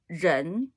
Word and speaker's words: 人: 人, okay, it's so difficult to pronounce, like nearly nobody pronounces it correctly. 日, 人, 日, 人, okay, 人, okay, person.